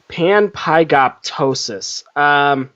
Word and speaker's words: panpygoptosis: Okay, so I thought it was PIG, but it's PYG. Okay. Panpygoptosis.